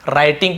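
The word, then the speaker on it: writing: started शुरू किया राइटिंग यहां पर राइट के स्पेलिंग आपको पता है डब्लू सेलेंट होता है राइटिंग पढ़ते ऐसे व नहीं पढ़ेंगे राइटिंग है ना जैसे रोट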